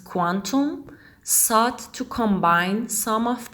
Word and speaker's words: Qtum: kutum the founders of qtem pronounced quantum sought to combine some